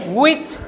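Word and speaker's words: which: Home কাকে, উইচ কোনটি, হুইচ না, বলেন উইচ, উইচ কোনটি।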